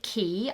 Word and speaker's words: Cay: And I know it's spelt K, but they say it Key. I don't know why. My auntie was asking me yesterday, how come it's spelt K and said Key? And I think some people say K, but most people say Key.